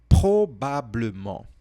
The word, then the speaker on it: probablement: Você consegue falar essa palavra aqui, ó? Probablement. Probablement. Repete. Esse R aí é um problema, né?